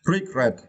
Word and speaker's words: regret: first list the word regret is developed right and for this verse you need to stretch the second syllable credit okay regret okay and this is the